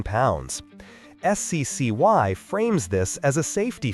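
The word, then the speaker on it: SCCY: If the plan is to get a modern gun on a tight budget, the SECY CPX2 is a major option. That's pronounced Sky.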